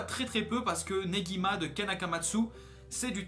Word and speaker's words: Negima: Vous avez vu, j'ai prononcé Negima parce que dans la première vidéo j'avais prononcé Nejima. Et il y en a un qui m'a dit dans le commentaire, non c'est pas Nejima, c'est Negima.